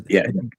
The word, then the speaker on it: Jiang: How do you pronounce that guy's name? Um RB? Professor Who? Professor Jiang? Jiang? Professor Jiang. J I A N G.